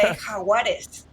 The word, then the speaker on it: Jaguares: It's spelled interestingly. Jaguares, it looks like, and I don't want to. Yeah, you don't say it like that. You say Jaguares.